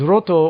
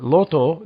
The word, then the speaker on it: Roto: And what's interesting about that is Roto, or Loto, depending on how you pronounce it, is Erdrick.